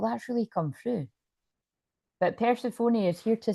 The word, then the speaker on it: Persephone: Persephone, pronounced Persephone.